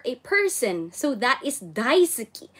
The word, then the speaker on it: Daisuke: so that is Daisuke daisuki you see wait this is guys dah Itsuki this is that is spelled as Daisuke but this the the way they you know pronounce it guys is silent you okay so daisuki I